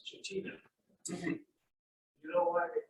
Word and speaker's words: Chitina: And if you look at the word chidna, I pronounce it as chitina.